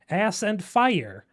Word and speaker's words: Aspyr: It's apparently Aspyr, Aspyr, as you aspire to something, but it does It's not spelled like Aspyr. It's Aspyr. It's an ass and it's pyre. It's ass and fire.